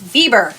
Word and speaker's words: Weber: To the point where, you know, I was not pronouncing I said Weber and it's Bieber, right?